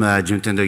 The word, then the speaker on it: Juntendo: I'm from Juntendo University. Have you ever heard Juntendo? No? Have you ever heard Nintendo company, right? Actually, Juntendo and Nintendo pronunciation really similar, but a big difference.